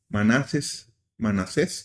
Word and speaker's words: Manasés: Manasés, porque lleva acento en la última, quitó los ídolos, pero el corazón del pueblo ya no se movió.